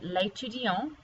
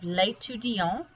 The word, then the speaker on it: l'étudiant: And this one, because it does not have an E on the end, you don't pronounce that T. But here, because you add the E to make it feminine, you do have to pronounce the T.